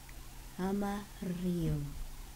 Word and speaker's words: amarillo: So the first word that you will learn with a double R is amarillo. Can you say that? Can you say amarillo? Amarillo. What does it mean? Amarillo means yellow. Amarillo. That's one word down.